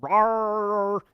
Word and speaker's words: RAR: like vba macro malware laced office documents using rar and iso yes that's how you pronounce that file extension all right so rar and iso file extensions which we talked about